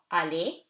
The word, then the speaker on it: aller: So, aller, A-E, two syllables, two vowels, two syllables. After E, R is silent.